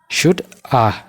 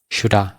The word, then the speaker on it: should have: Should A taati. Shoulda jechuudha. Should plus have shoulda. Meen waliin jedha shoulda jennee pronounce goona jechuudha.